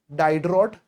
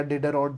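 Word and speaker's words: Diderot: Encyclopedia bye डाइडरॉट the French philosopher 18th century में, एंड डाइडरॉट या डिडरॉट जैसे प्रोनाउंस करना है, स्पेलिंग में मिस्टेक मत करना।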